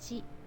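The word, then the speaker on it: し: She.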